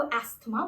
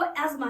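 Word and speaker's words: asthma: है क्या आप इसको अस्थमा बोलते हैं पर आज इस वीडियो के बाद आप सिख जाएंगे की ये शब्द अस्थमा नहीं है ये शब्द है आसमान ठीक है तो वो अजमा है अस्थमा बिल आप खुद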